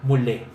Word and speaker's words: mulé: muerto y que su su plural es decir los que no están muertos se pronuncia mulé el lugar favorito del